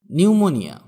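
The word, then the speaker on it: pneumonia: নিউমোনিয়া, এখানে পি এর উচ্চারণ হবে না। নিউমোনিয়া মানে এক প্রকার রোগ। যেমন my wife is suffering from নিউমোনিয়া, my wife is suffering from নিউমোনিয়া, আমার স্ত্রী নিউমোনিয়ায় ভুগছে।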